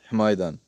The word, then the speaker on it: Hmidan: So my name is Maher, but my ig is my last name first, which is himidan. So you're going to have to spell that exactly.